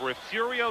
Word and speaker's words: Refugio: safety Winamac out of refugio Texas probably one of the more mispronounced of Texas cities because of its belly re F yu-gi-oh Gary hi keep going